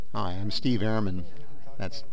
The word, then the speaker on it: Ehrmann: Hi, I'm Steve Ehrmann. That's Ehrmann. Our father was always particular about the pronunciation of our family name.